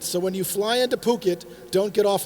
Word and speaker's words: Phuket: but I learned the hard way then it's pronounced Phuket so when you fly into Phuket don't get off like I did and say